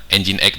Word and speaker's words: NGINX: usah bingung kenapa disebutnya engine.exe dengan epada hal ejaannya adalah engine.exe seperti ini karena walaupun ejaannya ngi n x tapi dibacanya engine sehingga disingkatnya menjadi huruf